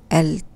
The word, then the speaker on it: التفعيل: It has two syllables and it's التفعيل. It has two syllables. The first one begins with ت and second one begins with ي, long vowel.